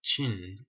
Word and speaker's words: Qin: and the Qin Dynasty even though it's spelled with a Q it sounds like Ching and this is where